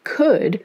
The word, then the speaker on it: could: And then could, which came from the past tense of can, no L anywhere, decided that as a member of the team, it needed the team jacket.